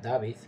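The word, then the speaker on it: Dawid: Y David, se escribe David, pero le dicen David, que ahora es médico y encima cirujano, fue uno de ellos, aunque fue expulsado por cobardía años atrás.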